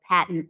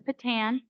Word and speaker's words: PaTTAN: I'm the director of the Patton East office. And Patton, sometimes known as Patan, it's okay, either pronunciation is correct, is the Pennsylvania Training and Technical Assistance Network.